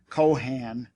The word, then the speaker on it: Kohan: his name was spelled Kohan and pronounced with an accent on both syllables the be cohens resident